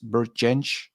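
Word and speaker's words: Bert Jansch: Uh, I think Jack Vanvad pronounced Bert Gench probably the right pronunciation as he's from Scotland.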